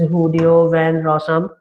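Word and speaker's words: Guido van Rossum: It's pronounced as Hudeo van Rossum.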